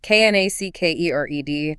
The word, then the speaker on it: knackered: I'm absolutely knackered. It sounds great. Knackered. The K is silent.